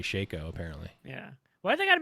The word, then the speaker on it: Shaco: or shaco or no they say shacko but it's actually shaco apparently yeah why they